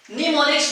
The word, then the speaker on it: mnemonics: निमोनिक्स में M जो है ये M ये साइलेंट हो जाता है, इसको पढ़ा जाता है निमोनिक्स।